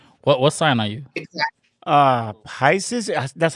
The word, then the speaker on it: Pisces: Pisces.